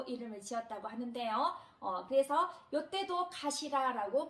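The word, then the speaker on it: かしら: 요거를 읽으실 때 가시라라고 읽습니다. 가시라. 자, 머리두는 아타마, 가시라 이렇게 훈독으로 발음을 하시면 되고요.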